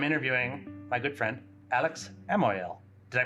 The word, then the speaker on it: Amouyel: I am, once again, at a Nexus Summit, and I'm interviewing my good friend, Alex Amouyel. Did I pronounce that right? Amouyel.